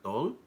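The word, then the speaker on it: 돌: In Korean culture, they have a first birthday party called a dol, and it's spelled DOHL.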